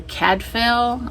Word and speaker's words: Cadfael: I listened to A Morbid Taste for Bones by Ellis Peters, and this was about Father Cadfael, I think is how you say his name, and he's a priest.